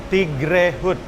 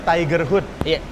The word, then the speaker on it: Tigre Hood: Kalau mau sesuatu yang beda, kalau ngomongin bisnis branding, contoh saya bikin Tigre Hood. Semua orang bacanya Tiger Hood. Tigre Hood, Tiger Hood.